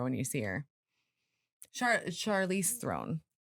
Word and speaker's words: Theron: Charlize Theron. Throne?